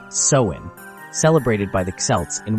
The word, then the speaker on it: Samhain: The origins of Halloween trace back to the Celtic festival of Samhain, pronounced Samhain, celebrated by the Celts in what is now Ireland, the United Kingdom, and parts of France.